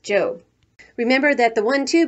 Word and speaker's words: Job: going off to her job which in the Bible is pronounced job remember that the one